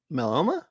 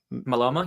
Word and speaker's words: myeloma: He passed away at the age of 65 due to multiple melanoma. Myeloma? Yeah. Melanoma, I think is what I can't really pronounce Melanoma?